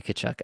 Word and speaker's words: Tkachuk: Nylander, Tage Thompson, Matthew Tkachuk, like all these guys that we all Matthew know who? can absolutely. Matthew Tkachuk, I apologize. It's an ingrained habit at this point. The T is silent, but yeah.